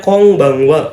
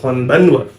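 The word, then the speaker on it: こんばんは: Ada konbanwa. Selamat malam. Dibacanya kong ya, bukan kon. Dibacanya konbanwa, bukan konbanwa. Ya, kecuali konnichiwa karena dia ada huruf n nih, ada huruf ni ya.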